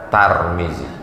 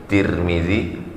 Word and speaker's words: Tirmidzi: tama sempurna sempurna sempurna hadits riwayat tirmidzi boleh juga dibaca tour muli boleh juga dibaca tarmizi tiga cara membacanya tarmizi tirmidzi turmudzi begitu dalam kitab al